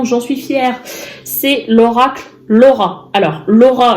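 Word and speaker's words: L'Aura: C'est l'oracle Laura. Alors, Laura, le prénom Laura, comme ça s'écrit, sauf que vous avez un L apostrophe A-U-R-A pour faire aura.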